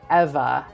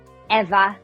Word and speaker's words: Eva: had us saying Eva. It's just um Evangelian. Eva was the way my contacts at um at production IG were pronouncing it.